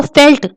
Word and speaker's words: veld: और इसको फेल्ट यहाँ पे प्रोनाउंस करते हैं।